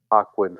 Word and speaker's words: Joaquin: Just like how like Joaquin Phoenix Joaquin. personifies Joker. Joaquin, right? Like I said, mispronunciation.